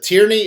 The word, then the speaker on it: Tierney: Patrick, is it Tierney? Is that how you pronounce it?